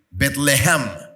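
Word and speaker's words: בית לחם: Betlehem.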